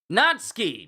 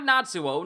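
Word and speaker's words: Natsuki: Natski, not Natsuo.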